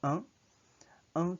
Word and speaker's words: un: The sound of one is un, and this is masculine form. Un. It's as if you're pronouncing the Filipino word ang, A-N-G, but there's focus on nasality of the N. It emanates more from the nose, and the sound is cut short. It's not that long.